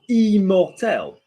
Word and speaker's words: immortelle: you say um immortal immortelle because you've got i double m o if n and m have a vowel or double n and double m have a vowel after them you need to change the previous vowel to make it higher yeah so um this